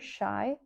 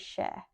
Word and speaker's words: sea: déarfainn "sea" nó "ní hea" Sea = Is ea agus deirtear "shy" agus "sheh" (not spelled like this as Gaeilge) in dialects in Donegal sheh, shy "shy" sin meascán "sea"